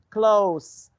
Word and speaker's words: close: Close. Close. Yeah. It's the C sound. The chair was so close, close, C sound to the door. We couldn't close. This is Z sound.